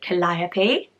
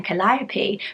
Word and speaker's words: Calliope: many lists, but I wasn't sure how to pronounce it, I must be honest, and it is Calliope.